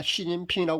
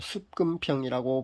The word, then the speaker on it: 시진핑: 그 나라에서 발음하는 대로 우리가 시진핑이라고 그렇게 부릅니다. 한자 그대로 우리식으로 만약에 발음을 한다면요, 습금평이라고 불러야 합니다. 근데 우리가 습금평이라고 부르지 않고요, 그 시진핑이라고 그렇게 불러주지 않습니까?